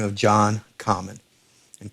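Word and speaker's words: Comyn: the name of john common and common is spelt c-o-m-y-n there were two john commons father and son the father went by the name of black common and junior red cummin and red was the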